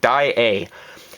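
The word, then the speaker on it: Daiei: As a Canadian, I should be saying A correctly, and I'm told that's how you pronounce it. Dai-A.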